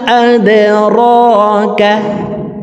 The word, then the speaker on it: أدراك: ওয়া মা أدراك وما আদরাকা দাল কলকলার হরফ নিচের দিকে ধাবিত করে ধাক্কা দিয়ে উচ্চারণ করব আদে আদে ওয়া মা আদরাকা মাল হুতামাহ